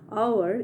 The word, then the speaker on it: hour: H is a consonant letter, but whenever we pronounce the word hour, its h becomes silent.